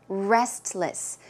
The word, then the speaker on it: restless: tend to be a Restless sleeper restless but if you pronounce the word a bit quickly naturally you may not hear the T so it could sound